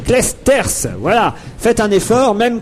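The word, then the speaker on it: Clijsters: bien prononcer bien prononcer le nom de Kim klichter on doit dire clesters voilà faites un effort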